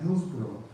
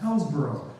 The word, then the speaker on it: Hillsborough: But I am going to say some things about Hillsborough. Or as I heard at one time, mispronounced Hellsborough. And I said, no, it is not Hillsborough.